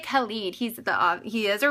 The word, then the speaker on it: Khaled: to be honest but i think it's kalid dj khaled the king of snapchat snapchat i call it snappy chat so often that i can't even pronounce snapchat anymore um thank you okay you gave the pronunciation you rock DJ kalid he's the he is